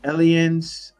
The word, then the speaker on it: Allianz: Actually, I have it's Allianz is Alliance one of with the Z Allianz.